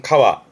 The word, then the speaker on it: 川: 뜻으로는 발음은 가와 가에서 보통은 그런 시내나 강을 의미하기도 하지요.